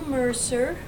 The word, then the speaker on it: Mercier: out say first and last name and then spell it out okay my name is Mercer that's pretty obvious and Mercer is m